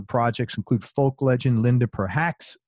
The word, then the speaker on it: Perhacs: Some of his current producer projects include folk legend Linda Perhacs. Did I pronounce that last name right? Perhacs. It's cool.